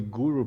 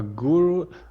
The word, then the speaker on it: guru: So a guru, well, the root meaning of the word, it's Sanskrit again, and it's two syllables, it's gu and ru.